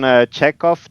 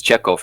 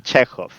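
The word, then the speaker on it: Chekhov: It's you pronounce it correctly with hov. But everybody pronounces his check off. That's not a problem. Okay. Okay. So, Anton Czechov.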